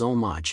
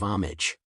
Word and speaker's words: homage: outcome of the game Ken Jennings mispronounced the word homage is omage instead of homage as a lifelong Jeopardy